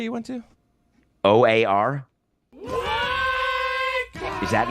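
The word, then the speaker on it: O.A.R.: OAR. Is that not a bait? Did I say it wrong? You said it perfectly.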